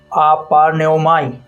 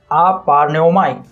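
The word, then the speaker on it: ἀπαρνέομαι: Para que você possa pronunciar corretamente. Aparneomai. Aparneomai.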